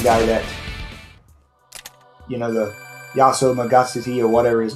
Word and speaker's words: Yaso Magatsuhi: If you don't do that, then basically you can't attack the one guy that, you know, the Yaso Magatsuhi or whatever his name was.